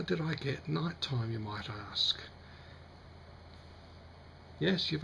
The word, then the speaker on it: Knightyme: nighttime uh it's OIC the opposite pronunciation of daytime even though the spelling is somewhat odd a lot of people will say nighty me and I'll accept that